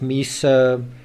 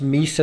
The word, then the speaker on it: Mesa: Someone said it's not pronounced Mesa, it's pronounced Masa or something. Well, you know, I actually studied geography. Where I'm from, it's pronounced Mesa, and it is spelled with an E, so that's just the way I know it.